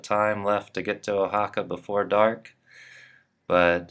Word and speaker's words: Oaxaca: a little water arrived in the town of ohaka and it's spelled o a x a CA and uh